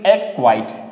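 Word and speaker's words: acquit: एक्वाइट, एक्वाइट, सी को हम प्रोनाउंसिएट नहीं करेंगे, एक्वाइट।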